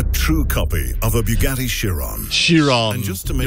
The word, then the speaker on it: Chiron: It's Chiron. It's not sh. It's not a sh sound.